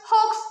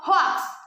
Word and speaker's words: hoax: hoax this word is also often mispronounced it's pronounced hoax instead of huax number 12 wednesday people usually read wednesday according